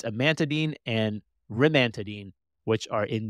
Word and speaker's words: amantadine: I'm not even G to say it right adamine amantadine is that sorry that's the medication right I was trying to think of the it's amantadine and Radine which are in the adamantine derivative